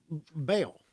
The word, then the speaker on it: Baal: And I bring this up because the Bible contains instances such as Elijah mocking the prophets of Baal. Is that how you say it? B-A-A-L? Yeah.